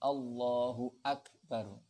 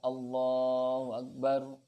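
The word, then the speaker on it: الله أكبر: Memutuskan hamzahnya kalimat akbar sehingga a-nya itu harus memang diucapkan Allahu Akbar. Jadi ya. Jadi hamzahnya itu harus benar-benar diucapkan. Jadi, bukan Allahu Akbar, hamzahnya tidak tampak, itu juga tidak boleh.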